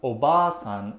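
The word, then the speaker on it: obaasan: into a p sound in japanese there are short vowels and long vowels that can change the meaning of a word for example obasan means ant whereas obasan means grandma here's another example means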